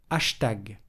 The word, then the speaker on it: hashtag: Mais dans ce cas, on le prononce hashtag.